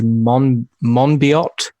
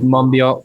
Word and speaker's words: Monbiot: well-known environmental activist not sure quite how to pronounce his name I think it's George Monbiot George Monbiot Mumbi oh yeah okay yeah so um he